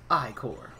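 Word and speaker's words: ichor: can fill it with magical eye core that's pronounced i-core choose your eye core wisely so we have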